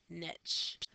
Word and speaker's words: niche: part we're going to talk about is a niche Niche rhymes with SN Niche and the niche is the